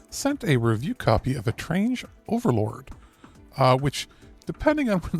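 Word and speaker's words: Étrange Overlord: Not strange, A-Train. Well, a game from Natsume America. All right, so I guess we're going to go to that review first. So, we're going to go to the unpronounceable game. I'm sure Alex will do that right. that The one that tongue twists me every time because it's not strange, it's A-Train.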